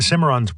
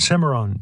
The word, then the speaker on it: Cimarron: pronounce our map names the Cimarron should end with Rhone and the county seat